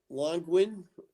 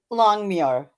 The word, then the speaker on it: Longmuir: And when Alan Longwin, if I pronounced his name right, Longmuir.